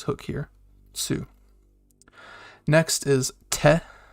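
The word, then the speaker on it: て: like su uh so next is te like you're saying 10 but you leave off the end so it's just te and uh it looks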